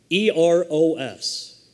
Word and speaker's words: eros: But the first one is eros, E-R-O-S, eros.